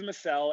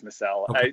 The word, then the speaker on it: Micelle: name pronounced micelle or masala i always have this fight with people it's always micelle and my mom is like the biggest advocate that it's missell people have called me